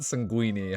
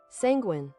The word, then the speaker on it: sanguine: All right, so it wasn't sanguini. How do we pronounce it? Sanguine.